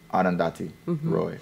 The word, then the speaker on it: Arundhati Roy: about wrong how do you say that name Arundhati Roy Arundhati Roy okay it's very very it's very rare because